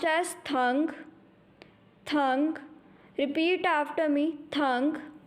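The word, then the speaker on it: tang: Will be pronounced as thang. Thang. Repeat after me. Thang. The next finion is T-E-N-G. Will be pronounced as thang.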